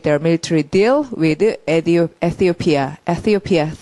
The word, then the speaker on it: Ethiopia: Ethiopia, thi 발음 이렇게 하고요.